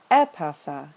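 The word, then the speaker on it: ἔπαυσα: where the accent goes I look at the last syllable it's short so I count back 1 2 3 and put an acute over the anti penal the third to last and we get epasa another form of the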